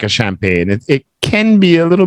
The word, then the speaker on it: champagne: what it is well it's a French word breakfast so it's pronounced a little bit different in French it's champagne champagne and it's very expensive